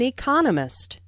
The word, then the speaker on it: economist: Smith is an economist. Notice the stress on economist. This content word has new information, so it is emphasized. There are four syllables in economist with the stress on the second syllable.